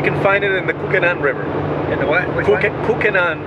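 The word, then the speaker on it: Kukenán: We can find it in the Kukenan River.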